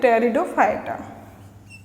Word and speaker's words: Pteridophyta: and gymnosperm and angiosperm टेरिडोफाइटा की जो spelling होती है वो बोलते हैं टेरिडोफाइटा लेकिन प साइलेंट होती है तो उसमें पी लगाते हैं क्या लगाते हैं पी तो एक क्विक रिवीजन